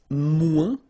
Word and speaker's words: moins: Then if you want to say less, it's moins in French, so no discussion about the S here, don't pronounce it, okay?